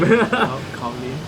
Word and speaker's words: Kyaw Lwin: How you pronounce that name? Kyaw Lwin.